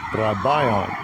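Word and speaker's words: βραβεῖον: So this is the pronunciation. Strong's G 1017. Brabayon.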